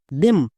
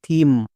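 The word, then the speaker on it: theme: এখানে টিএইচ এর জন্য থ হবে। কেন এক্ষুনি বলছি। এবার ই এর জন্য হসিকার। কারণ ই ভি সিবি রুলে আছে লং সাউন্ড। এম এম এর জন্য মোশে ই আছে। আমরা সবাই জানি শেষে ই থাকলে সেই ই সাইলেন্ট থাকে। তাহলে এর উচ্চারণ কি হলো? থিম।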